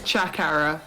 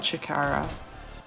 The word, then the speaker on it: Chakara: Yeah, it's Chakara, not Chikara.